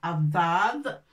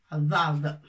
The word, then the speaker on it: ضاد: Alors, هناك عدة كلمات تكتب بحرف الضاد. والمهم هو أن نضع الرقبة والنقطة. الضاد. En français, je ne sais pas qu'est-ce qu'on peut dire, c'est D, mais مفخمة, ça se prononce autrement.